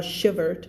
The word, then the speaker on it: shivered: เวลาตัว r บอกแล้วใช่ไหมใส่ ed เข้าไปเป็น d ไม่อ่าน shivered อ่านว่า shivered ไม่อ่าน shiver ด้วยนะ shivered the Nazis circled the